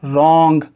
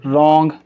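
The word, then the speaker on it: wrong: इसको हम क्या पढ़ेंगे, रॉन्ग, राइट, रैप। समझ पाए? हमने एक देखा केस नंबर 2 के अंदर आर से पहले अगर W लिखा गया है तो फिर W साइलेंट होगा।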